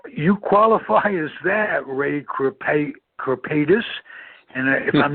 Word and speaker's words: Kripaitis: and um you you qualify as that ray crepe corpetus and if i'm not pronouncing that right uh please tell me a